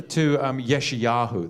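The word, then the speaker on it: ישעיהו: Yod Shin Ayin, which already leads you to go before the Y actually confirms it. The Y is going to confirm an I sound there anyway. If you had Yod Shin Y without an Ayin before the Y, the Yod, if you just had Shin and Yod, it'd be Shai. Yeshayahu. It would be the Y is an extra confirmation that it's an I sound.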